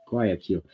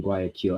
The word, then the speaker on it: Guayaquil: And I can't pronounce it. That's what Guayaquil with a Q. Guayaquil. So I flew out from Guayaquil, and that's the plane.